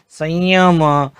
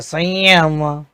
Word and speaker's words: संयम: य से पहले अगर अनुस्वार आता है तो उसका उच्चारण य की तरह होता है, जैसे संयम।